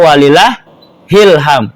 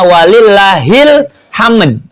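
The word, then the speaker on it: ولله الحمد: Ingat tulisannya tuh walillahi alhamdu. Maka dibacanya walillahil hamd gitu kan. Jangan walillah ilham. Isi ilham siapa di bawah-bawah itu? Ya. Kebanyakan ujungnya ilham, padahal hilhamd. Dari lafadz lillah dengan alhamdu digabung. Mas nih.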